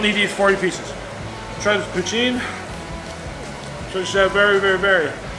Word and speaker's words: poutine: but you don't need these 40 pieces Travis poutine turns out very very very very famous Canadian